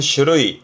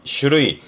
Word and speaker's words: 種類: 발음은 슈르이 슈르이 종류를 참 많이 보죠.